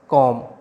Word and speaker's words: comb: जैसे कि हमारे पास कुछ एग्जाम्पल है, COMB कॉम, इसमें बी साइलेंट है।